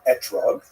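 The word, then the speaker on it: אתרוג: We all know that the correct fruit to bring is an etrog, or an esrog in the Ashkenazi pronunciation, but it doesn't say so in the written Torah.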